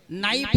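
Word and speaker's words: knife: अगर आपको इंग्लिश सीख रहे हैं तो नॉलेज में के साइलेंट हो जाएगा, नाइफ में के साइलेंट हो जाएगा, कहाँ उसका अर्थ नहीं निकल पाएगा।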